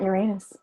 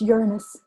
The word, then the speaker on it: Uranus: Jupiter doesn't have, and it's not Uranus. It's Uranus. They came out and said that's not how you say it.